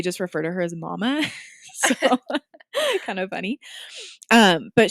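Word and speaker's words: Momma: time was margaretta mama i think it's pronounced mama it's m-o-m-m-a so margarita mama who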